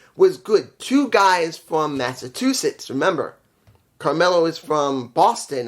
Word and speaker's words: Massachusetts: two B well two Massachusetts guy I'm saying it wrong Massachusetts there you go it's good to see